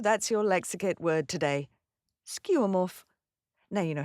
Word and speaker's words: Skeuomorph: Skeuomorph. Now you know how to say it, what it is, and where to say it, and how lovely it is to say it. Skeuomorph.